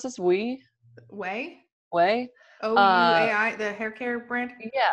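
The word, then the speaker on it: OUAI: The, how do you pronounce this? Way?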